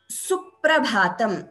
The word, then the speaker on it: Suprabhatam: When you get a double letter pronunciation. So one example is suprabhatam.